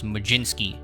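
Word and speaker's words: Mlodzinski: butchered the name last time so it is maginski at least hopefully i'm pronouncing that correctly now so him and kumar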